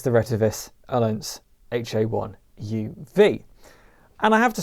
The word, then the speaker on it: Ailunce: So this is the Retevis Ailunce, I believe it's pronounced.